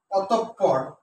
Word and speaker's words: অতঃপর: যদি অতঃপর, অতঃপর, এটা সঠিক উচ্চারণ হচ্ছে অ তোপ, অতঃপর, অতঃপর।